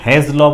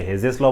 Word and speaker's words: Hess's law: अब कुछ टीचर इसे हेज लॉ बोलते हैं, कुछ टीचर इसे हेजेस लॉ बोलते हैं। बोलिए कुछ भी, स्पेलिंग बराबर लिखिएगा, है ना।